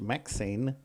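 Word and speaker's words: MXene: deacon scientists the fabric called MX E&E pronounced Maxine sure it is it's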